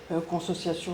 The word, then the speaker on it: consociation: Donc la notion de consociation, consociation, c'est comme ça vraiment comme ça se prononce qu'il substitue à la division moderne entre état et société.